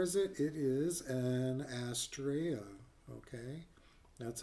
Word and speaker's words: Astrea: It is an Astraa. Okay, that's how you pronounce it.